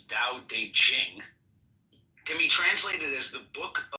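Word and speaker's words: Tao Te Ching: book you're referring to Da Ching pronounced more or less da de Jing can be translated as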